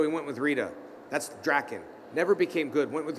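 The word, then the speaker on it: Drakkon: But it's Draken. That's how you pronounce it.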